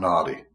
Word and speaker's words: nadis: system called the nadis it's nadis but it's pronounced naughty pronounced naughty um and